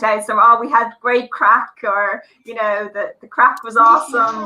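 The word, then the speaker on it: craic: Now, remember, on Patrick's Day, Irish people have the crack. Now, the crack means a very different thing, and it's spelled C-R-A-I-C.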